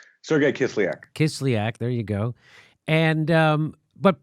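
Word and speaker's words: Kislyak: Sergei how do you say his name Sergei kiss-kiss lyac there you go and but what the other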